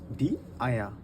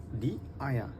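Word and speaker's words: die Eier: আর যদি অনেকগুলো ডিম বলি এক্ষেত্রে আমরা বলবো হচ্ছে ডি আয়া, ডি আয়া, আরটা এখানে সাইলেন্ট থাকবে। অনেকগুলো যদি ডিম বলি সেক্ষেত্রে ডি আয়া।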